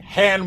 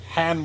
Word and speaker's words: Han: but uh Lando's like Han will have that shield down we've got to give him more time I love how Lando like how Billy D Williams mispronounces Han it calls him hand will have that Shield